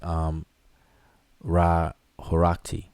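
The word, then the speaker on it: Ra-Horakhty: So Ra but you're saying Hurati, but it's really Ra Heru Aketi or Aket. And some people pronounce it as Ra Horakti.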